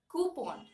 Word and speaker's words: coupon: the next word coupon now people say it as coupons right you must have heard this word you get coupons for pizzas or for uh cold drinks or something like that but the actual pronunciation of this word is coup on coupon you coup it on okay it's coup on okay let's look at